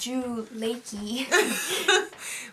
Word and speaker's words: Drew Lachey: this with the Drew Lee as the host Drew Ley well if you talk to Tracy Morgan that's